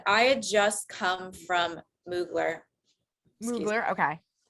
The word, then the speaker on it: Mugler: wardrobe malfunction a slip um so this is muggler the dress okay and i had just come from mugler okay not muggler according to this person over here in the